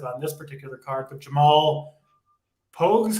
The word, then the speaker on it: Pogues: Obviously not as impressive on this particular card, but Jamal Pogues, how do you say it, title?